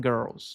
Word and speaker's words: girls: Girls é uma pronúncia um pouco chata porque tem um R maravilhoso em girls, girls, girls, girls, boys and girls, que é um R que requer uma língua muito enrolada, que com a prática se consegue.